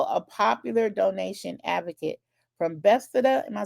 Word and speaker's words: Bethesda: And he is also a popular donation advocate from Bethesda. Am I saying it right? Bethsaida, like in the Bible, Maryland.